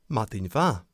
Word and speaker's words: Madainn mhath: There is no V in Gaelic, so we show the change in sound by adding an H.